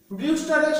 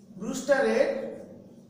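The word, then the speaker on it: Brewster: বিষয়, সেটা হচ্ছে আমাদের ব্রিউস্টারের সূত্র, এবং খুবই গুরুত্বপূর্ণ যেটা এই চ্যাপ্টারে। প্রতিসরণ ঘটবে এখানে একটা মিউ মাধ্যমে। ব্রুস্টারের, বাংলায় ব্রুস্টার বলে উচ্চারণটা ব্রিউস্টার এর সূত্র।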